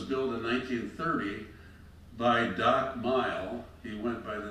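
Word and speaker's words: Mighell: Later, Doc and his wife added what they called the 2 mile inn, he being 1 mile and his wife 1 mile. It was spelled M-I-G-H-E-L-L, but pronounced Mile.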